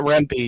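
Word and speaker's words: Rempe: Is that the correct pronunciation? If not, yeah, Matt Rempy."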